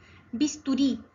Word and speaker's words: bisturí: Bisturí. Nuevamente palabra aguda. ¿Saben por qué? Porque se acentúa en la última sílaba ri.